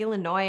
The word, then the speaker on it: Illinois: To French ears, Illinois sounded like Illinois, and that pronunciation is what stuck.